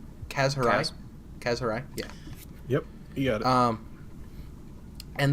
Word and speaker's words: Kaz Hirai: do you say his name has her eyes Kaz Hirai yeah yep yeah duh and the biggest the